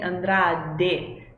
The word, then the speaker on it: Andrade: Porque vocês lembram, já expliquei aqui que a gente não fala de com Andrade, mas sim Andrade, de, sempre bem ali nos dentinhos, né? Andrade.